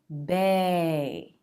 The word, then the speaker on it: bae: those are vowel sounds but we need a diphthong a changing sound with two positions bae so drop your jaw bae then bring it up bae bae you're my bae